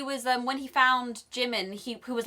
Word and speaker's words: Jimin: get away with this because it's just a mispronunciation like that's absolutely fine he was them when he found Jimin who was like oh you sit there Jamin he was calling Jamie but you referred to